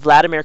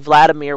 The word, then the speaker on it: Vladimir: But in German, we pronounce the V in Vladimir with a W.